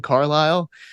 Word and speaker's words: Carlisle: Again, there's like some silent letters in Carlisle. So watch out for that.